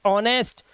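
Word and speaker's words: honest: पहले एच तो ऑनर ओ से पहले एच ऑनेस्ट ओ से पहले एच आवर और ओ से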